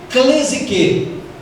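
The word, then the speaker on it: κλῆσις: palavra de origem grega na qual se pronuncia clesi que significa chamado a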